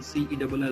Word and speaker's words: cell: Certain words which start with C, they have ka pronunciation, but some words are there which start with C but they are pronounced by sa sound. For example, C-E-L-L, that is cell.